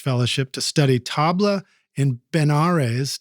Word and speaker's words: Benares: The Smithsonian Institution awarded him a postdoctoral level research fellowship to study tabla in Benares. Did I pronounce that right? Benares, yeah.